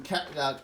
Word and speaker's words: Calliope: Got some Calliopes. I pronounced it right this You time.